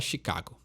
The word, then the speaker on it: Chicago: gente costuma falar né em inglês o nome dessa banda é Chicago Então ela tem um pouquinho de diferença na e fala Chicago esse próximo grupo tem